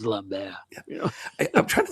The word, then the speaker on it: Lambert: If I want to goof around, I'll say Lambert. It's like everyone seriously it's Lambbear.